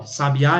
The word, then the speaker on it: sabiá: Porque um exemplo, ó, sabiá é oxítona, sabia é paroxítona. Sábia é proparoxítona.